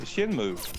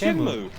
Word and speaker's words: Shenmue: It's Shinmu. Yeah, but Shem- people would say Shenmue. Why would you overpronounce the N at the end of Shin?